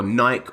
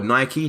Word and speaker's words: Nike: As you can see, I went over to Google and I did a search for Nike or Nike, depending where you are in the world is how you pronounce that.